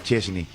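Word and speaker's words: Szczęsny: ¿Por qué se pronuncia? No sé. Pero se pronuncia así. Y. Perdón, Y, Chesney.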